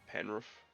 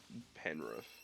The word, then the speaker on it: Penrith: when you're setting in so it's spelled Penrith P and Rik age but a lot of people say pan roof it's is Penrith pan room like you